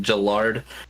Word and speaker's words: Gillard: sell everybody is is you say Jill and then Ard So when you say Gillard you're saying it right ah see boom I